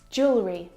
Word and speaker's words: jewelry: my clothes tonight Jewelry jewelry jewelry again we've got an extra vowel here that we don't need to pronounce we don't say jewellery jewellery it's just jewelry and